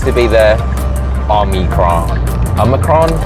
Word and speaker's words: omicron: be the army crown a micron omicron a micron difficult it didn't roll off the tongues like delta on the cross three syllables so a little bit